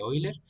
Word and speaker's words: Euler: baricentro y el circuncentro se llama recta de oiler se escribe Euler y es precisamente lo